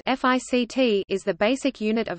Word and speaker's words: FCT: The Firepower Control Team (FCT), pronounced FICT, is the basic unit of ANGLICO operations.